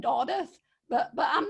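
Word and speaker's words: Dodworth: set list was uh doddworth uh i do believe that's not how you pronounce it i think you said oddith but but i'm not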